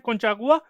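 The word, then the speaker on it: Conchagua: अब इसको इसी तरीके से प्रोनाउंस करते हैं, कोंचागुआ, ये वॉल्केनो है।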